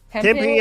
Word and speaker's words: Tempe: How do you pronounce the city name? I think it's Tempe. Tempe, Arizona.